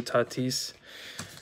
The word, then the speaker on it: Tatis: second basement and it's something unfortunately happened to tatis someone to back that up other than my